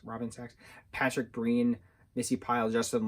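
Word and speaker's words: Sachs: name um jed reese robinsox sacks sax s-a-c-h-s sacks robin sacks patrick greene missy pyle justin long rayne wilson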